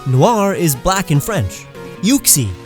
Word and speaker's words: Uxie: Uxie, as in you and pixie, not Uxie. That's nasty.